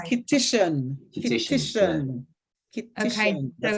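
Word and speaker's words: Kittitian: It's actually pronounced Okay. Kittian.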